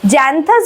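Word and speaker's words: Xanthias: term slave যার নাম হচ্ছে জ্যান্থাস ঠিক আছে জ্যান্থাস বা জ্যান্থিয়াস যেভাবে ইচ্ছা উচ্চারণ করতে পারো তো জ্যান্থিয়াসকে তিনি জানান ডায়ানিশাস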